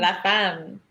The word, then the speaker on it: La Femme: La Femme.